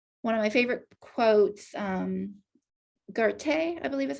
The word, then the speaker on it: Goethe: One of my favorite quotes, Goethe, I believe is how you pronounce his name, Goethe.